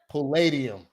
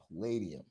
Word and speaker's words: Palladium: that how you say it it pulled yeah Palladium Palladium yeah um so that was really cool um